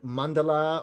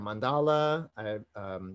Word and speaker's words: mandala: in words and so this word mandala or mandala the pronunciation getting different ports on which the emphasis should be on but the manda